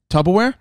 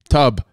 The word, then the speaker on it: Tupperware: saying say it again tupperware say it again slow tupperware slow very slow first say the first syllable tub wrong what do you mean